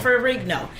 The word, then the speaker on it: Ferrigno: Ferrigno. Right. His son, Lou Ferrigno Jr., is going to be on SWAT, and I know him. Okay. I know the son very well. Right. No, his dad, Lou Ferrigno, he relented.